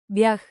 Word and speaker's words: бях: Ние бяхме там заедно.